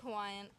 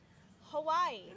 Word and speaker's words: Hawaii: Hawaii. No, Hawaii or Hawaii. You want to get like Hawaii or many people because W in Hawaii can be pronounced like a V.